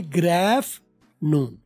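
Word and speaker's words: good afternoon: Morning भी चलेगा, और गुड आफ्टरनून के लिए ग्रैफ नून, TER साइलेंट है, डबल ओ साइलेंट है, जी और डी का डी को आर करके गर कर दिया, और ग्रैफ आफ्टर का ग्रैफ कर दिया, ग्रैफ नून कर लेंगे।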